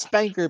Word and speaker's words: SPNKR: Like, there's no vowels, so like it's pronounced Spanker because it's like clearly meant to be like a joke that's like a funny.